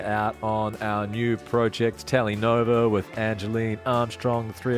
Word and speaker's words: Telenova: It's under Telenova Music, and that's Tele spelled like Telecaster for the Fender buffs out there.